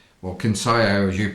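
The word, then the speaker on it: Kinsaiyok: So you're in Kinsayak, or Kinsayo as you pronounce it, which is the proper pronunciation.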